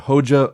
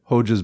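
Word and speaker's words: Hoxha: As a final note, though, if you are looking for something a bit more upto-date, I recommend the works of Envir Hoja of Albania, who continued a strong anti-revisionist trend into the later 20th century.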